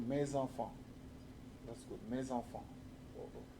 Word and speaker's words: mes enfants: Generally, you make the liaison also, mes enfants.